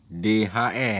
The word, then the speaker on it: the: Nah, THE itu dibacanya DHE ya. DHE dibacanya bunyi D bukan bunyi. Jangan lagi kamu baca tehe ya. Tehe salah itu. Seharusnya de ya. Bunyi huruf de.